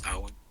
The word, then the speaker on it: Eoin: I believe you called me, bro. It's Eoin.